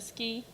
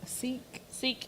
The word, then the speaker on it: Sikh: that, he was obviously a ski. Is that how you said it? I'm probably pronouncing it wrong. Seek. Seek, sorry.